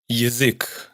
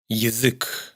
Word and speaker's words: язык: Язык, lengua. Яйцо, huevo. Ядовитый, venenoso. Es como una I breve precedida de una clarísima semiconsonante Y. Язык, яйцо.